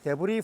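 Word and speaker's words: debris: S는 발음 안 해. 불러기 때문에. 데브리 플로우.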